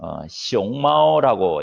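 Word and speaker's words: 熊猫: 판다는 중국어로 숑마오라고 이렇게 발음을 하는데 귀엽죠.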